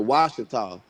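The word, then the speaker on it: Ouachita: That's where, and the Washita's not spelled with a W, it's spelled with a Q.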